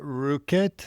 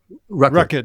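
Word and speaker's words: Rueckert: it's Don Elkins and Carla Ruket. Is that how you pronounce the name? Racket. Yeah. Sorry.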